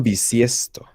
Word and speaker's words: bisiesto: Año bisiesto. V with a V or a B? B as in boy. I mean, it's pronounced the same way.